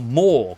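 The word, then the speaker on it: Morr: The other moon of the known world is called Morsleeb, named for Mor, god of the dead, and that is spelled M-O-R-R.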